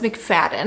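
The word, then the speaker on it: McFadden: first few updates of this video I've been mispronouncing that author's name um but it's mcfaden I am extremely disappointed in my reading experience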